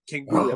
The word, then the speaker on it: Canguro: Canguro. Oh, man, out of my brain. You had it phonetically right.